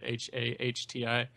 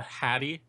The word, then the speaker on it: Hati: And it looks like they're pronouncing it several different ways. There's Hati, like they write it Hahti, and there's a Hattie, seems to be the most popular, like hat, like you wear on your head.